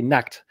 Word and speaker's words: Nacht: You say you can't actually pronounce ch the way we do. You say Nacht, and Nacht in English is nude.